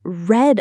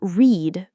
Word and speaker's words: read: The past tense of read is a little special. The spelling is the same, but the pronunciation is different. We say read. So I read a book. Not read, but read.